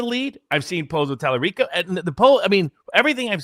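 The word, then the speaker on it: Talarico: Tallarico.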